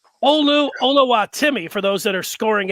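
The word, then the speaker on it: Oluwatimi: that's his name but while it looked like hola wattimi it is pronounced hola timmy olu olowatimi for those that are scoring at home and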